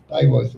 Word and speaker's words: Bayreuth: And then, interestingly, Bayreuth is the German pronunciation, is only 40 miles from Neustadt.